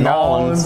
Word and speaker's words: New Orleans: 10:00 so Mardi Gras New Orleans and that's how you say it nollans yeah you know big